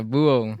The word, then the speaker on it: Búho: Yeah, Búho. Búho rhymes with duo. It does.